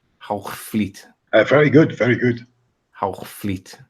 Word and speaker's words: Hoogvliet: The Oosterbeeken building in Heugewild. The horizon should show around. How did you call it? Heugewild? That's funny. Heugewild. In Dutch, it's pronounced as Hoogvliet. Hoogvliet.